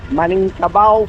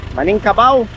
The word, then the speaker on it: Minangkabau: And also the region of the Minangkabau people. Minangkabau? Minang. Huh? Minangkabau. Minangkabau, sorry. I mispronounced it.